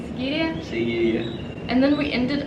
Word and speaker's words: Sigiriya: How do you say Sigiriya?